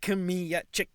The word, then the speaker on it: Kmiecik: But you have pronounced the name very well, so really congrats. Yeah, I learned last time. Kmiecik.